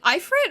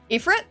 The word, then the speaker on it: Ifrit: Also, is it Ifrit or Ifrit? Because the base of the god, right, is like different pronunciations. I think it's Ifrit, but it's the latter, really? Ifrit? Oh. It's Ifrit, okay. I get confused by that because it's like, you know, actual name. And I always hear it pronounced in different ways. So okay, Ifrit, I'll try to remember that.